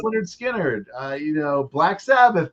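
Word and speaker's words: Lynyrd Skynyrd: Steely Dan, uh Pronounced Leh-nerd Skin-nerd, uh you know, Black Sabbath debut.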